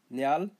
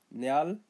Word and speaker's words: Nyal: Nyal, sky, nyal, sky, pronounce as nya al, nya al, nyal.